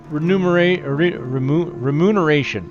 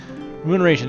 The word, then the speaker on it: Remuneration: Remuneration. I hate that word, because I never say it right. Remuneration.